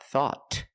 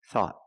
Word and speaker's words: thought: At the end, the tongue goes up and makes a stop T. Not thought, but thought.